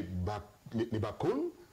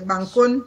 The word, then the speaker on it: Bankon: Vous avez donc démontré, à travers cette œuvre ô combien grande, que les Bakon, les Bankon. Les Bankon, voilà, c'est important la prononciation, que les Bankon